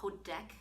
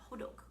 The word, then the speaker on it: hotteok: like this hok hodok why I say h sounds like the way it's spelled looks like it's says hodek but it's h hodok this one is piping